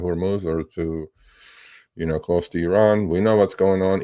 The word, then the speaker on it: Iran: or to, close to Iran. We know what's going on. It's Iran. It's not Iran. Please just say it correctly.